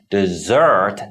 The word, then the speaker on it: dessert: desert it means but if you put the stress on the second syllable dessert then it means stick around to the